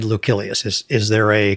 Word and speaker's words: Lucilius: i i pronounce it lucilius you said lucilius is is there a correct pronunciation for that am i mispronouncing it uh well the c in uh latin is supposedly hard like a k so it would be